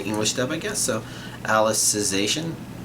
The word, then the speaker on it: Alicization: So Alicization. I think I've been saying Alicization. Like I've been putting not only emphasis but also pronouncing that second I strongly.